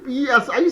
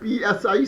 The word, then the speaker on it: psi: Okay, a similar symbol is PSI psi.